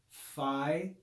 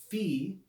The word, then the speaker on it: phi: what in english is commonly called phi phi that's not proper pronunciation before i i showed you with the theta i said it's like the th in thomas okay that's actually what this letter we could say fee fee to pronounce the vowel